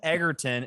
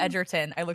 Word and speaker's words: Egerton: idea and now yeah taryn eggerton is that i might pronouncing it correctly edgerton actually is it edgerton edgerton that's even more annoying edgerton oh my god eggerton is fine but like anyway taryn